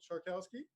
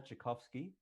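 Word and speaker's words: Czarkowski: friend of mine um charkowski that is correct but not good enough a friend for you to actually know how to pronounce my name oh god no it's okay maybe maybe strong maybe strong acquaintance would be uh that's chakovsky and i'm a developer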